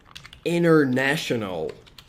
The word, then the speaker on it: International: Esse T aqui você pode pronunciar ele, como também não precisa pronunciar ele, tá? Os americanos geralmente tendem a omitir o T após o N, tá? Então é comum eles dizerem International Phonetic Alphabet, ok?